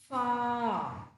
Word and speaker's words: far: Even in this word, the last letter is silent. Okay, so last letter stands for the sound r, but it is a silent sound. So it becomes far, far, ah.